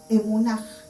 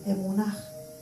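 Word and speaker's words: אמונה: El significado de fe en hebreo se escribe emunaj, con H final, emunaj, y significa verdad, fidelidad, fe, firmeza.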